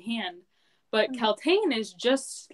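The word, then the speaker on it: Kaltain: I can understand that Roland is of royal blood, but with Kaltane, she's like just a. That's how you say it. I keep calling her Caitlin.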